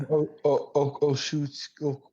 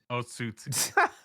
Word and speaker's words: Otsutsuki: But that's because you have Oshutsuki. I forget what it's called. Okashutsuki? Otsutsuki.